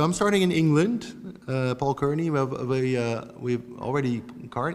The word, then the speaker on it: Cairney: Paul Cairney, we've already... How am I pronouncing this, Paul?